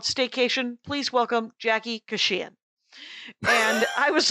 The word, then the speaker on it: Kashian: is for 20 years it's why i called the album staycation in the hopes that people would pronounce my name right oh beautiful and i